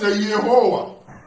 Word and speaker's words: Yehowa: Nous avons expliqué qu'on le prononce Yehowa.